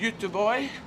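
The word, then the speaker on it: Göteborg: i start i was playing gothenburg yeah which pronounced in swedish is you two boy um so that's how it's pronounced in actual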